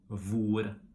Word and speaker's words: hvor: We don't pronounce the H in the combinations HJ and HV. For example, we say hjelpe, and in all these question words like hvem, hvor, hva, we don't pronounce the H.